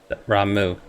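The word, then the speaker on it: Ramuh: Ramu.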